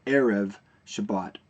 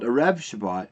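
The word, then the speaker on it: Erev Shabbat: another example would be Sabbath evening in Hebrew is called Arab Shabbat it's not called a Rav Shabbat its era of Shabbat okay so what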